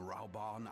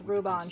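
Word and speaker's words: Raubahn: if I like it I am raon Alin no it's Ruban shut upce you just said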